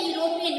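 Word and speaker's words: European: अब उच्चारण में देखिए, यूरोपियन, यूरोपियन आ रहा है, यह हमारा आ जा रहा है, इसीलिए यहाँ पर वॉवल का एन नहीं लगाकर कॉन्सोनेंट का लगाया गया है।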